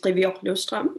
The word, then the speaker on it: Qivioq Løvstrøm: picture yes thank you and my name is privilustrom it's a difficult name to pronounce so i'll just say it myself now